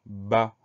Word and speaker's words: bas: suivant c'est le mot bas une seule syllabe très courte ba bê à et on a une lettre muette c'est la lettre s lettres muettes qu'on va